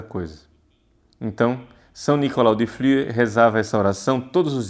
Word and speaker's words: Flüe: Flüe se escreve F-L-U-E com trêman em cima do U. Flüe.